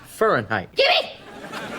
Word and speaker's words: Fahrenheit: what book were they reading fahrenheit 451 it's pronounced fahrenheit spencer gets home from playing tennis with a